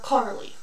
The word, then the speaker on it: Carlee: Today we're going to talk about Carlee. That's how they pronounce every video I've seen of her, so that is what we're going to talk about.